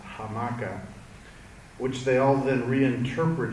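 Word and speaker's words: hamaca: the Spanish uh word amaka which back then still had the H pronounced hamaka which they all then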